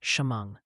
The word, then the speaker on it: Shamong: And hey, before you butcher another place name word is Shamong, New York is pronounced shamong. Shimong.